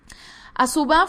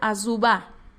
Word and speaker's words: Azuba: se apartó de él asuba fue un gran ejemplo bueno en hebreo se pronuncia azuba Okay fue un gran